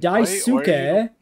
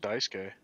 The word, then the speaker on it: Daisuke: You could exactly. You can say it like a real Japanese person, or put very strict emphasis on the individual syllables, like a fucking weeaboo.